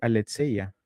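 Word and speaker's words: ἀλήθεια: Si tú escucharas una persona que habla griego, escucharías este aletseya.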